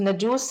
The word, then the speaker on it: نجاشی: و کسرا کہلاتے تھے، افریقی زبان میں نجاشی کا تلفظ نجوس ہے اور اس کا معنی